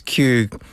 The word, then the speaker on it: queue: Because Q could be just spelled with the letter Q, because that's how you pronounce it.